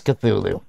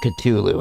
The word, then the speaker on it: Cthulhu: i thought it was cthulhu or ctulu however you want to pronounce it okay i guess